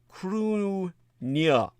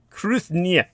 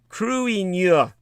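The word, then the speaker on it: Cruithne: it would be pronounced chris but it's pronounced crewin uh the word um comprising but twa syllables uh but the stress being on the first syllable which contains both the u and e sounds cree yeah the name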